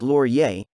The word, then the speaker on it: Laurier: number one the laurier neptune series three l-o-r-i-e-r pronounced laurier is based in new york city owned and